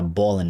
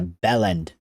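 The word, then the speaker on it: bellend: It's not a Bolan. It's a bell end.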